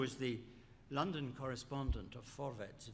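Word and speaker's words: Vorwärts: the London correspondent of for vets that's how you pronounce it the german social democrat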